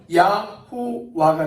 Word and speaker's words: YHWH: 그러면 처음 단어인 YHWH는 어떻게 되어지냐면 야호와가 됩니다. 야호와. 이게 원래 발음이에요.